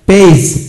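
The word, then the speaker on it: page: শিখব যেমন অর্ডার শেষে জি থাকলে জি এর উচ্চারণ বর্গাচ এর মতো হয় যেমন পেজ পি এ জিই পেজ এইজ college লার্স applies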